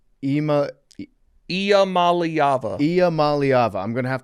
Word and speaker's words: Iamaleava: Nico Iamaleava. Iamaleava.